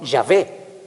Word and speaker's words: Yahvé: Cuya pronunciación en hebreo sería algo así como Yahvé. Por eso algunas Biblias ponen la pronunciación, ponen Yahvé en vez de Jehová.